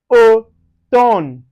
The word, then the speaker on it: automne: Then anywhere you see m and n following each other, you pronounce it as no. So for instance, you can see it in automne, automne.